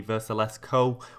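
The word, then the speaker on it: Vrsaljko: Somebody did comment how to say it, so I think the correct way of saying it after my research seems to be Versalesco, meaning that the J is silent.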